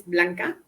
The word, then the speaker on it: Blanca: my name is blanca the pronunciation is blanca as you said